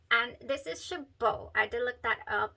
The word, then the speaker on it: Chabaud: pronunciation and this is Chabot I did look that up it is not Shabbat it is not shaboud it is Chabot you do not pronounce the d so I've been doing